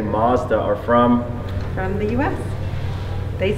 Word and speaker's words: Mazda: about our pronunciation of Mazda so here's what he said Mazda so was Mazda okay sure but Italy say in Japanese Matsuda okay that's the way